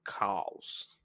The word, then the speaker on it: chaos: a crawling chaos, but they don't say chaos. It's spelled chaos, but they pronounce it cows.